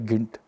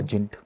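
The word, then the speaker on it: Gynt: एक डायरेक्टर थे, केरला से हैं, दीपन सिमारवन था, उनका एक प्ले है पियर गिंट या जिंट, जो भी बोलते हैं, कई लोग इस प्रनाउंस अलग अलग करते हैं।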